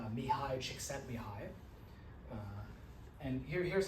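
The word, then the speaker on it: Mihaly Csikszentmihalyi: This comes from someone with a really weird spelling for their name, but it's pronounced mihi chickent mihi.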